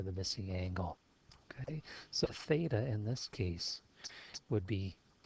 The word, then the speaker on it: theta: Okay, so that's how it's said, theta.